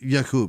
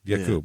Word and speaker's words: Aqib: Somehow his brother, Aqib, is that how you say it? Aqib, yeah. Aqib, okay.